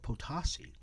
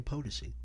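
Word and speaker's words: Potosi: was a kid uh so one reporter actually said potasi and I you almost want to just cringe it's like my gosh you you live in Las Vegas you don't even know how to say our landmarks so here in Las Vegas we will never say potasi will say potency we will never say uh amargos we won't say armagosa we'll say Amargosa because that's the way we pronounce it and so we want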